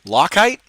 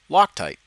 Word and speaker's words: Loctite: how to pronounce it lock height lock height oh lock lock height there we go loctite yeah loctite there we go that's what it is jesus i struggle i